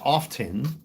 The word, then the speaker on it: often: It's not often, it's often. T is silent.